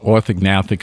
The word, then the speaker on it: orthognathic: there is uh called orthognathic surgery okay Ortho it's Greek Ortho meaning straight NAIC meaning jaw which makes sense it's a little hard to pronounce it's U orthognathic surgery is